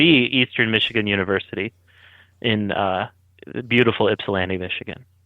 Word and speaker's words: Ypsilanti: Places like Ypsilanti, Livonia. Mm-hmm. Good pronunciation there on Ypsilanti, by the way.